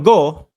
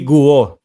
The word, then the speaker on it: Guo: candidacy no ni Mayor go Ganyan pala yung pronunciation niyan sabi ng bubwit natin Mark Mali ka ng ah pronunciation ung apelyido Hindi guo go silent you Ayan Yan po